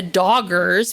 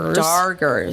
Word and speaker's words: Darger: Um, so before we go on our plation, as they called it, with the doggers, which are doggers. Dargers. It's the weirdest name because you think that they're mispronouncing it, but they're not.